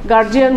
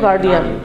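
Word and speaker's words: guardian: আমাদের most common mistake কি আমরা অভিভাবকের ইংরেজি গার্জিয়ান বলি একচুয়ালি আসলে উচ্চারণ হলো গার্ডিয়ান আমরা ওপেনলি এটা ইয়া করি এমনকি টিচারসরাও বলে গার্জিয়ান এমনকি শহরের টিচাররাও বলে কমন মিস্টেক এগুলো ইংলিশে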